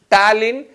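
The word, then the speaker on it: ptyalin: enzyme thaline see here the pronunciation is different and the spelling is different it is talin otherwise called as amelie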